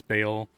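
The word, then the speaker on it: Baal: channel um bail ball i call them ball all the time people tell me no it's bail you know what it's spelled ball it's hard for me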